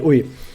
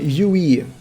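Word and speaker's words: うい: But the thing is, I usually tell people that no, you're pronouncing it Yui, Yui. Like there's a lot of how would you describe it? There's too much richness in those vowels. You go Yui, like your mouth is vibrating throughout the entire thing.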